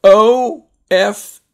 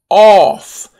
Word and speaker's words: of: practice sentences so the first one is off o f f off get off of the table off notice the